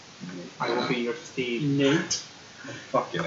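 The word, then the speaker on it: Nyate: Nate. Fucking A. No, it's N-Y-A-T-E. Yeah. It's Nate.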